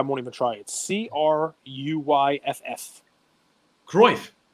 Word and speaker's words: Cruyff: constantly reevaluating i'm going to say this dude's name wrong so i won't even try it c-r-u-y-f-f groif croise yep so before you're before uh cruyff it